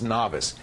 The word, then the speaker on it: Navas: watch the Navas cable I always say his name wrong he says it's novice the novice cable Mo